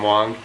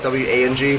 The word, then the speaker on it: Wang: It's actually W-A-N-G is pronounced Wong.